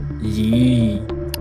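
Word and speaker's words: Є: It's pronounced ye Yuh, yot. It's basically the letter A wearing a tiny hat or holding whatever this thing is supposed to be.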